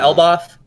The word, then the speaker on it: Elbaf: Is it Elbaf? Elbaf, yeah. Okay, so they're going to go to Elbaf, maybe quick trip, because they've been talking about Elbaf the entire series. The World Tree in Elbaf may possibly have a link to the final poneglyph.